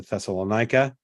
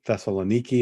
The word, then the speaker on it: Thessaloniki: on a plane and went to thessalonica that's what Thessaloniki is how they say it and from Thessaloniki we